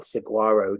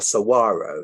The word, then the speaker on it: saguaro: And then to see those John Wayne style saguaro cacti, or saguaro is actually how you say it, these amazing branched cacti.